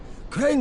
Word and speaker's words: Crane: name is crane okay crane rhymes with train and brain and sane and gray and rain